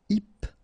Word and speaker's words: hypnotique: Remember, at the end, Q-E, K, tic. So, H is not pronounced. Hypnotique.